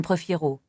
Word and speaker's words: prefiero: Il est important de bien prononcer le R dans prefiero.